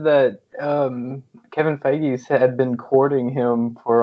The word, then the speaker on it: Feige: Oh, I believe Marvel's head, Kevin, I can't pronounce his last name, Feige, thank you, is in talks with Keanu Reeves to bring him into the MCU.